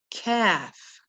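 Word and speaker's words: ك: On to the next is the letter kaf. Kaf. A very simple, very soft letter, kaf. It makes the k sound, and we represent it with the letter K.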